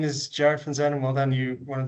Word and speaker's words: Jarrad Van Zuydam: Um yeah, my name is Jared Xan. Well done. You one of the few people who pronounced it correctly, but I suppose you're from Belgium, so the Dutch are just next door.